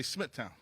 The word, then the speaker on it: Smithtown: meetings we had and I learned something from you today too that it's pronounced Smithtown so from now on I'm going to say Smithtown really Smithtown and as